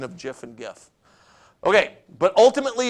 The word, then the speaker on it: GIF: controversial that one is stands for graphics interchange format which is why it should be pronounced gif and not Jeff okay I know that